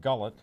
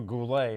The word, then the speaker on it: Goulet: She was married to Robert Gullet, or Goulet, if you want to pronounce Goulet. it right.